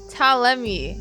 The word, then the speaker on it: Ptolemy: Ptolemy.